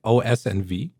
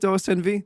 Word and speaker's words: OSV: do I say it osv you got it yeah everyone always tries to give it some really fucked up pronunciation and uh no it's just osv just the letters as it is okay so you don't